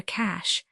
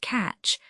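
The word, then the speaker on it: cache: And yet it stands to reason that this is the only place for a cash. His use of the word cash puzzled me for a moment as he pronounced it catch, but his real meaning occurred to me almost at once.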